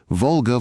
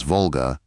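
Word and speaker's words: Волга: cramming into the depressions two-syllable words normally accented not on the first syllable, as Volga, but on the second, and doing it thrice in one line.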